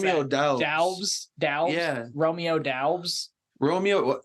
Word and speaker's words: Doubs: pronounce Romeo that. Doubs.